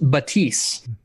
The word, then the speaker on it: Baptiste: According to Papa Jeff, I believe it is pronounced Baptiste. Sure. It's spelled Baptiste. Just like Bridget or Brigitte.